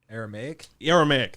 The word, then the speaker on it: Aramaic: Aramaic, thank you. I can't pronounce that.